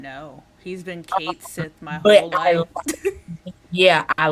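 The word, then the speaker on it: Cait Sith: those who actually know is either Scottish or Irish and it has a very very distinctive pronunciation not know he's been Kate Sith my whole life yeah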